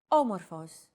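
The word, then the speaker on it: όμορφος: a language is intonation did you notice the accent mark above the first letter there is only one type of accent mark in modern Greek the acute accent it adds stress to a syllable a stressed syllable usually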